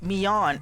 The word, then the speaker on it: Myong: Myong, her name is pronounced and spelled Mion in Japanese, but it is romanized, not romanticized.